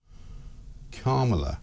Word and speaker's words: Kamala: do you pronounce it first you say comma like a comma in a sentence then you say love like la la la la la put it together and it's 1 2 3A carela so just in case